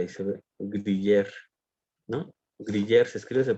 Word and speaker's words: griller: Griller se escribe, se pronuncia griller.